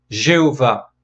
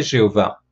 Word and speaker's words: Jéhovah: prononciation de ce nom comment se prononcer le tétragramme alors au 19e siècle en pensée qui se prononçaient jéhovah pensée qui se prononçaient jéhovah parce que les voyelles qui sont en dessous des consonnes et bien sont les voyelles qui